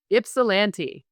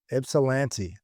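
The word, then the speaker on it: Ypsilanti: I don't want to mispronounce this early in the week. Ipssilante. Ipsilante.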